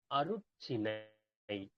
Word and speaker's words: அருட்சினை: அர்ச்சனை அப்படிங்கிறது தமிழ் வார்த்தை கிடையாது. சரிங்களா? அது மருவி வந்த வார்த்தை. அப்போ உண்மையான வார்த்தை என்ன? அருட்சினை.